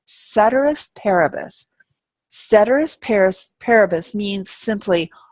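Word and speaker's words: ceteris paribus: that we have here this is pronounced cedus parabus cedus Paris parabus means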